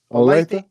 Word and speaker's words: Olathe: they just don't know you know how you pronounce that that that's how you uh end olecti olathe olathe it means beautiful it's indian for beautiful